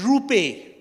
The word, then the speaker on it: Rupen: Gujarati boy he said my name is rupe I said you you mean rupen your name is rupen he said no the N is silent I'm an NRI I